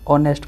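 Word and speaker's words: honest: जमीक example दे देखो dash hair बा dash honour dash ऑनेस्ट मुझे।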